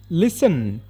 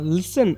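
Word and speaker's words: listen: ಕನ್ನಡದಲ್ಲಿ ಚಾಕು ಅಂತ ಹೇಳಿ ಲಿಸನ್ ಅಂದ್ರೆ ಇದರಲ್ಲಿ ಟಿ ಸೈಲೆಂಟ್ ಆಗುತ್ತೆ ಇದನ್ನ ಲಿಸನ್ ಅಂತ ಮಾತ್ರ ಪ್ರೊನೌನ್ಸ್ ಮಾಡಬೇಕು ಟಿ ನ ಉಚ್ಚಾರಣೆ ಮಾಡಬಾರದು ನ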